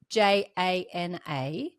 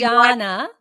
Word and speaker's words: Jana: It's like my name is spelled J A N A. But but I'm telling everyone my name is Jana. So don't don't call me Janna just because it's spelled like that.